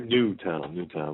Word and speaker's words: Newtown: secondary place out of Newton, Connecticut. It's only a town of 2,000 people. We have to keep... Newtown, sorry. Newtown. We have to make sure we pronounce that right. No, maybe... Newtown, because it has new connotations to the name Newtown.